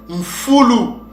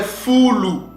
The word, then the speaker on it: mfulu: l'a traduit Edom, mais ce mot-là se prononce mfulu, ou bien fulu.